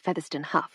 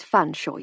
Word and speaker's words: Featherstonehaugh: I made my usual point of mispronouncing it as Featherstonehaugh, which in turn drew his usual raised eyebrow and slightly sad smile. "It's Fanshawe, you silly girl, as you very well know," he said, indulgently playing along.